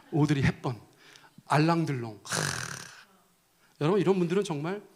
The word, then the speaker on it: 오드리 헵번: 예를 들어서 오드리 헵번, 이거 발음 잘못하면 오드리 헵반이라고 하는 사람도 있는데 오드리 헵번, 알랑들롱.